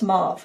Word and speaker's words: mauve: would be real pretty too i know it's mauve okay so you don't have to comment it's pronounced and there's probably already been comments although